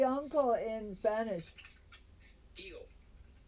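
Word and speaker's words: tío: Tio. T-I-O. T-I with an accent on top. Tio. Tio. Tio. Yeah. Like Dio.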